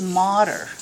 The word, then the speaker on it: mater: arachnoid and pia and folks it is moder it's latin for mother don't spell it m-a-t-t-e-r it's not matter you can say dura mater but spell it with